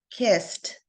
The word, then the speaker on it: kissed: Hush has the SH sound, and of course, kissed has the S sound, which makes the ending sound like there's a T.